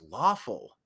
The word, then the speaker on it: Lawful: Lawful. Rhymes with awful, but lawful? That's an interesting name.